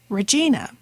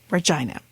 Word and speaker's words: Regina: And in fact, in episode number 2, you'll notice I referred to Regina, Saskatchewan as Regina, since I was just becoming familiar with the